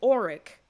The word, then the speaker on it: Oriq: What I will say is that the name the Auric, and that is spelled O-R-I-Q, the Auric is something familiar to